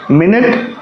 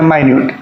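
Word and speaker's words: minute: ठीक है घरी की सुई को क्या कहेंगे मिनट और माइन्यूट का मतलब एडजेक्टिव यानी थोड़ा एकदम कम उसको कहते हैं माइन्यूट तो हम देख रहे हैं कि एक ही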